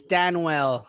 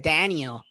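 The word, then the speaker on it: Danuel: By the way, it's Daniel instead of an I. it's Danwell House. Interesting. So, Yeah. But they always say it Daniel. Yeah, Don't they? I feel like everyone pronounces it Daniel.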